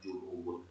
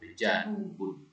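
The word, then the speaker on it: جنوب: Bukan ju ya. Bukan junubun. Janubun.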